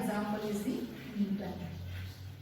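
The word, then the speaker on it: Gnetum: And for this Nitopsida, example is the Niton. You can see here the G is silent.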